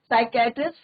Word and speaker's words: psychiatrist: अपने साइकेट्रिस्ट friend, P silent रहता बच्चों, साइकेट्रिस्ट फ्रेंड, और क्या नाम था साइकेट्रिस्ट फ्रेंड का?